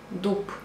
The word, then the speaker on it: дуб: will see the difference you have to write downдуб but you pronounce п дуп город ce город друг